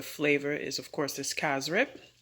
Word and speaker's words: cassareep: is of course this kaz rip even though it's spelled cassareep we pronounce it cass rip and what i did